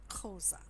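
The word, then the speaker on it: Xhosa: for the chosen people Koza which is spelt XH Oh si but let our wine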